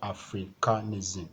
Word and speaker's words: Africanism: has five syllabus so since is ending in SM the stress will be on the first syllable a so that a will